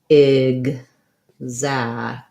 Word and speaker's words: exact: And then we have our letter A in exact says the black cat vowel because it's in the stressed syllable. So it sounds like exact. With a short syllable and then a long syllable.